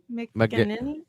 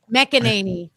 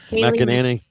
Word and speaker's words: McEnany: Kaylee McGinnity.